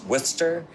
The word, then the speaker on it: Worcester: something in Worcester um so it's wor Worcester it's spelt wor sester it really ends it's w o s t a h wer wer all right